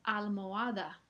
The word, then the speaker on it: almohada: La siguiente palabra es almohada. Eso es un truco porque ahí eh parece a primera vista que no hay ninguna secuencia vocálica, pero recuerden que la H es muda siempre.